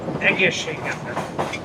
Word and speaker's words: Egészségedre: Egészségedre. Egészségedre. Egészségedre. Egészségedre. Egészségedre. Egészségedre. Egészségedre.